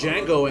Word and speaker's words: Django: cuz Jango is so serious of course he's serious the D is silent here I am you